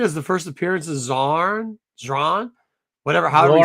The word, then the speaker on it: Zorn: Morrison did a great job on this run, introduced some great characters, but we have get Zoran. How do you say it again? Zorn.